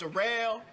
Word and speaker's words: Darrell: name to rail it spelled like Darrell but it's pronounced a rail uh yeah that's one